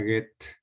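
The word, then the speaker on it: Goethe: uno la biografía de get se escribe juguete e h y que te h juguetes se pronuncia get ideas principales de get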